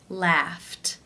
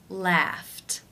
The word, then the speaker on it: laughed: the unvoiced f sound since it's unvoiced it is case one where the e d is pronounced as the t t sound laughed laughed how do you pronounce